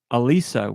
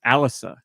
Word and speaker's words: Alisa: European releases Nikki uh you said Alisa which is how all of us would say it but that's not I that's how I said it it's Alysa that's how they say it in the game but anyway it is